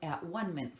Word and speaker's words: atonement: to the description of at-one-ment for me. So while I'm reading this lesson, you will hear me read the word atonement and pronounce it as at-one-ment.